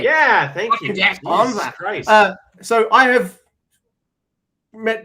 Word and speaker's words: Bonza: You know, I thought it was like a Jack Bonza, mate. Yeah, thank you. Jack Bonza.